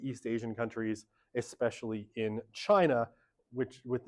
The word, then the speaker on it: China: And then, in the 90s and 2000s, it's all about China, or as Donald Trump would pronounce it, China. For some reason. Always the stress on the na.